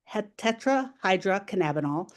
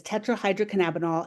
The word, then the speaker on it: tetrahydrocannabinol: THC, which is tetrahydrocannabinol. And if you were in person and you pronounce that properly, I would send you a little candy across the room. But it is tetrahydrocannabinol, and that is the substance that's primarily responsible